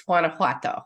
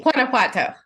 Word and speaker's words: Guanajuato: The name of the state is Guanajuato.